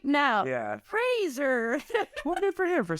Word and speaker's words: Fraser: name and he goes That's Brendan Fraser like Razer like he was like